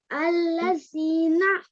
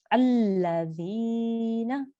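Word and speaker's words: الَّذِينَ: Allazina. Very good. But you need to make sure you have this pronunciation for 2 seconds. Allazina. Much better. Well done. Once after me. Alladhina.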